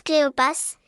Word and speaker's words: Cléopas: été ind en erreur on prononce cléopass et on écrit PS à la fin réponse B question numéro